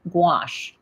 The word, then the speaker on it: gouache: And it's like I have to say squash or think squash before I can say gouache.